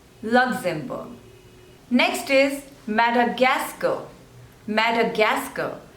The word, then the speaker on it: Madagascar: luxembourne next is Madagascar Madagascar so there are Force labels and you have to stress on the third one Madagascar Madagascar Madagascar next is